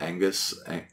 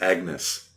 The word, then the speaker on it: Agnes: apparently but I'm almost illiterate so it's like Angus Agnes Agnes it's Agnes okay right oh let's get into this so